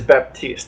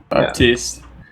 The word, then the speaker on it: Baptiste: It is Baptiste. I believe that's how it's pronounced. Baptiste.